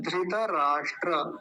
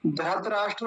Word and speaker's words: धृतराष्ट्र: हम क्या बोलते थे धत राष्ट्र बोलते थे धत धत नहीं धत धत ऐसा बोलेंगे देखिए कितनी गलती कितना